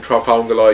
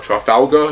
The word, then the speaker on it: Trafalgar: like not this again trafangala you know i i keep saying his name wrong trial foul trout falgo trafalgar you know like trafalgar square baby so he stabbed the